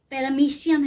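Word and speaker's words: Paramecium: हमारा क्लैमिडोमोनस है, तीसरा पैरामीशियम है। अब इसकी स्पेलिंग में MOE होता है लेकिन बोलते हैं मीशियम है, पैरामीशियम है, चौथा बैक्टीरिया है।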